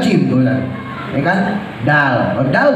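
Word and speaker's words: جيم: iya pikir lama gitu Jin dibacanya ja ja padahal jim I kan Dal Dal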